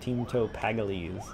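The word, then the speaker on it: Teemto Pagalies: Teamto Paggalese.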